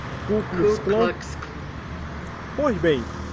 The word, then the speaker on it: Ku Klux Klan: o clube roxy cleaning ouvir o direito a pronúncia ku klux klan pois bem um e essa organização criminosa terrorista